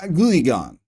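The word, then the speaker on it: Guiagon: Okay, so Guyagon. I was kind of right. And then the other guy I wanted to pronounce was this dude.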